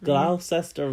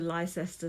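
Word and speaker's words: Leicester: oh where do we need to get off glester Ro and I was like um actually it's Excuse excuse me terribly sorry did you actually say that awfully sorry to inter actually pronounced gler they're like oh thanks very much oh that's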